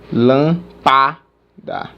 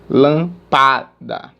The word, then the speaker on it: lâmpada: é a mesma coisa lâmpa da lã padá não fica legal lã padá não fica legal agora lâmpada lâmpada ou seja a sílaba tônica é essa portanto se classificando